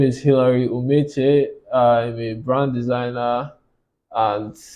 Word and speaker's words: Hilary Umeche: Sort of, but that's Yeah, tell me the correct so pronunciation. it's actually Hilary Umeche. Okay. Yeah, but that's kind of complex for people. So Umeche is fine. Okay, Hilary Umeche.